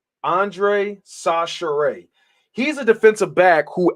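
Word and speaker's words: Chachere: At first, I thought it was Shashir, but apparently it's pronounced Sachere. Andre Sachere.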